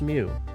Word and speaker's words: Mu: It's pronounced mu.